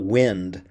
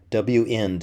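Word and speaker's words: WEnd: I've been mispronouncing it it's not wind but W in end W end is short for end of while I feel like I've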